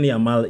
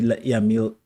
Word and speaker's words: Yamal: It's not even Lamine Yamal. People wanted it to be Yamil, whoever he is. Lamine Yamal. That's name. Those syllables are kind of a problem.